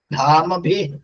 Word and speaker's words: ധാമഭി: ധാമഭി ആദ്യദാത്തം. ധാമഭി. പക്ഷെ ഭി എന്നുള്ളത് തൃതീയ ബഹുവചന പ്രത്യയാണ്. അത് ഈ ഹ്രസ്വ ഭാഗങ്ങളായിട്ട് ചേർക്കുമ്പോൾ അത് ഒടിച്ചു ചെല്ലണം. അപ്പൊ ധാമഭി എന്നുള്ളത് മാന്നുള്ള ഹ്രസ്വമാണ്. അപ്പൊ ധാമഭി എന്ന ഒടിച്ചിട്ടാണ് പദച്ഛേദം ചെല്ലേണ്ടത്.